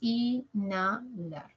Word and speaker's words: inhalar: la segunda con la porque la H no cuenta es como si no estuviese un fantasma ya la n pasa con la segunda entonces Decimos inalar lo mismo en desheredar